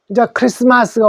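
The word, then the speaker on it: Christmas: 리을에다가 리, S는 스, 그 다음에 T는 소리가 요 자가 쓰여져 있는데 없어요.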